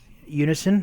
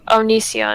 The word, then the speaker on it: Onision: Everyone keeps on going on about this Unison. Is that how it's pronounced? Oh, Onision. Onision.